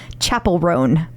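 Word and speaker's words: Chappell Roan: pronounce it yes yes Chapel rone I was told that we know now but it's spelled like Dave Chappelle it is like I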